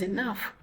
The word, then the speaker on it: enough: So these two words here, they are pronounced differently. One is cough, another one is enough.